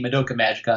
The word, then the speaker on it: Madoka Magica: koyla Madoka Michaela Maggie yeah nope whele Maggie Madoka Magica I can never pronounce it right the first time Luca Magoo